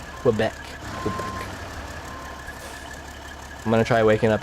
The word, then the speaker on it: Quebec: I was saying it wrong for a long time. It's Quebec.